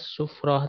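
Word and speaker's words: sufrah: Ini dibacanya sufro ya, bukan safro, sufro.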